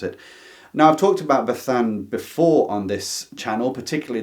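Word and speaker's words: Bazán: I'm going to say Bethan because I've been told the zed is like a th pronounced in in Spanish, but I might butcher it anyway.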